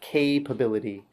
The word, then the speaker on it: capability: This pronunciation, capability, watch that long A sound, capability.